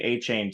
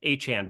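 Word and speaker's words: Achane: Okay, A-Chan, by the way. A-Chan. Yeah, I don't know when he decided to pronounce his name differently because they've been saying A-Chain for 6 years now.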